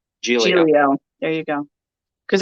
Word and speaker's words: Giglio: Giglio. The second G is silent. Giglio.